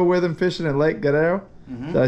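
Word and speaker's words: Guerrero: them fishing in lake gerero did I say it right sir say it with the Mexican twang Guerero there you go you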